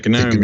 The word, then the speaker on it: GNOME: It's hard G, right? GNOME? Yeah, GNOME, yeah.